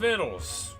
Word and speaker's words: victuals: You'll find your boats are laden with a bounty of Glen Brookke's finest wares, victuals. Victuals? It's pronounced viddles.